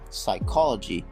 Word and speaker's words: psychology: actually pronounced but however english does not allow the ps pt and pn sound therefore the p sound is silent another thing i want